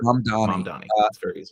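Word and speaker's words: Mamdani: his name Donnie Zon mandonni Donnie like the easiest way to think of like mom like hi mom and Donnie like Donnie Wahberg mom Donnie against who's like 33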